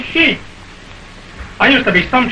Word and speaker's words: sheik: I'd have bet I'd have got my share of those sheiks before they'd have got me. Pardon me, dear fellow, but in Arabic they pronounce it sheik, not sheik.